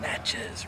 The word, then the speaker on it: Natchez: of production mississippi this natchez rhymes with matches we're making a movie